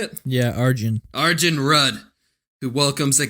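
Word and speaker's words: Arjen: Yeah, Arjun.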